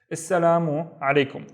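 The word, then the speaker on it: السلام عليكم: So we have il actually at the beginning, but we don't pronounce it because the sa is one of the sun letters. Assalamu alaikum.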